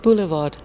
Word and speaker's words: Boulevard: I don't know quite how you pronounce Boulevard Theatre. Boulevard.